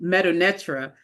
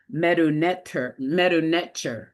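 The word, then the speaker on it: Medu Neter: We said Medunetra, and Yeah. you just said it was Medunetter, Yes. right? So that was like an eye-opening thing because I've been saying it wrong all this time.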